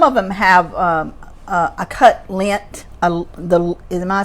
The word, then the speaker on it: Lindt: And some of them have a cut lint. Am I saying it right? The lint candy.